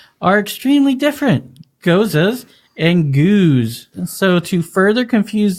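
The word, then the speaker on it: gueuze: A geuze, pronounced geuze, of course, Geuze.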